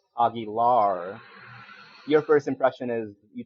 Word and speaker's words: Aguilar: you start off with actually it's pronounced Augie lar your first impression is